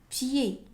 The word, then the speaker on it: pied: Un pied. Un pied. Un pied. Un si. Un sifflé. Un sifflé. Un ni. Un ni. On prononce pas le D.